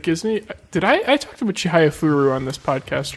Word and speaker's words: Chihayafuru: How do you spell it again, though? CHIHAYAFURU.